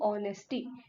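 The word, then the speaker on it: honesty: एक और एग्जांपल है ऑनेस्टी, अब ऑनेस्टी क्या है, यहाँ पे एच साइलेंट होता है, यू नो, ठीक है, तो इसको ऐसे प्रोनाउंस करते हैं हम, ऑनेस्टी, ठीक है।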